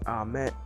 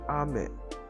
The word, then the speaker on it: ame: For example, the Japanese word for rain and candy are both spelled the same way, ame. But one is ame, while the other one is ame.